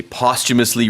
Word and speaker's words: posthumously: 네, 이 발음할 때 posthumous 가운데 쭉 이런 사운드가 들어갑니다.